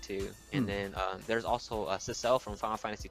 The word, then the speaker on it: Cecil: I think the pronunciation is Cecil. I don't know how to say his name. It's Cecil.